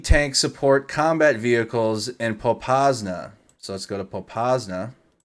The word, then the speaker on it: Popasna: Pop Santa? No, it's Popasna. Just sitting there.